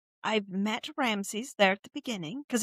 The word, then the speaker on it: Ramses: say, I've met Ramses there at the beginning because it's Ramsey, yes? Mhm.